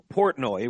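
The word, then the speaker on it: Portnoy: So Dave Portoi right that's how you say it.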